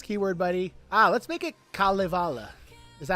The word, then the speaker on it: Kalevala: K-A-L-E-V-A-L-A. Oh yeah, it's not Kale Vale. Sorry, I'm wrong.